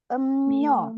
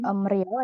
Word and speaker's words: 음료: 자, 이거 어떻게 발음하냐면, 음료, minuman. minuman. Jadi kita bilangnya bukan emrio ya. 왜냐하면 저기 미음하고 리을 만날 때 이거 음료, 미음하고 니은 발음해야 돼요.